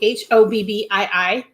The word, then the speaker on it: Hobbii: I think it's pronounced Hobbii, Hobbii.